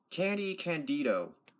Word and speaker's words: Candy Candido: How do you pronounce his name? Candy Candido.